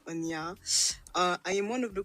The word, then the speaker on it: Onya: I have to really see if I can pronounce her name right. Yes, yes, it is that. It Onya.